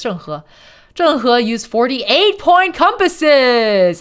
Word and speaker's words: Zheng He: Advanced mariners such as, how do you pronounce it? Is it Zheng He? It's Zheng He.